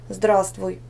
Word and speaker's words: здравствуй: Здравствуй, непроизносимо «в», проверочное слово «здравия».